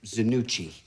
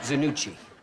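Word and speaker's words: Zanucchi: stuff Mitch Zanu Chi it's pronounced Zanu Chi and then what I said you said Vannucci I'm not hearing any difference shut up through this make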